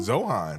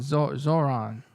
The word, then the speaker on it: Zohran: Zohan. Zohan. Zohan. Yeah. But no, now I'm now I'm Zoron.